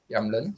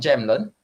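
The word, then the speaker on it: Jämtland: here all right yeah youngland sweden uh it's not jamlin all right because they don't have the j sound as well the j is pr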